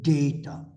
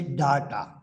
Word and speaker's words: data: Some people say data. The Americans say data, but the British say data. And because English is a British language, we use the British pronunciation, and so we say data.